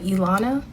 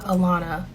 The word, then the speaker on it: Ilana: My name is 5 letters, and it's been mispronounced my entire life. 3 syllables, 5 letters, and most times I have to correct people on how to say it correctly.